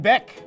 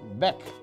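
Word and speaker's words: bec: French you know one Bek that's right it's like beak with an accent Bek that's right okay so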